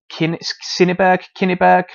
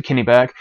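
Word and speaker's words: Cyneburh: This daughter is called Kinniburgh. My Anglo-Saxon pronunciation is not great. But anyway, we'll go for Kinniburgh.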